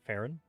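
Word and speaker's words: Faerûn: One, I think it's weird how they pronounce Faerun. They pronounce it Farron.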